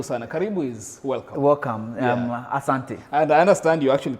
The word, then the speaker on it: asante: You say asante.